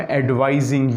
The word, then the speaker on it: advising: I am advising you. S जो है उसको Z के तौर पर पढ़ना है.